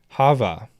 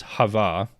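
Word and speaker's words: חוה: Eve means we have in Hebrew Eve would be pronounced Hava um which is a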